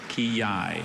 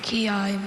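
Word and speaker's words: quillai: Kiai. Kiai. May I please have any alternate pronunciations?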